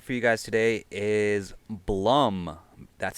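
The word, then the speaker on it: Bluhm: artist I got for you guys today is Blum that's spelled b-l-u-h-m it's a Duo based in the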